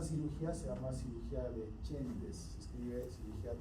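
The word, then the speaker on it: Csendes: Entonces esa cirugía se llama cirugía de Chendes. Se escribe cirugía T C, perdón, C e N d e S.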